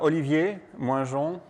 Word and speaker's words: Olivier Moingeon: So I'm Olivier, Moingeon. Very difficult to pronounce.